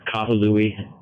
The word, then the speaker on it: Kahului: Yeah, the town is pronounced Kahului, so it's just Kahu and then Louis, like Louis C.K. or whatever.